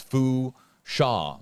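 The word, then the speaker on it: Fourchon: coastal Louisiana, hashtag HJB, it's Fusha with a silent N there.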